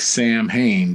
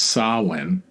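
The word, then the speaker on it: Samhain: Celtic Pagan Festival of it looks like Sam Hayne but it's pronounced sawin which marked Summer's end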